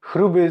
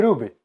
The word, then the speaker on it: hruby: Na południu wymawia się to tak jak po czesku, zecha na przodku. Musieli ci ludzie wbić do ziemi chruby zaciosany kół. Za to na północy to H się straciło i godomy ruby.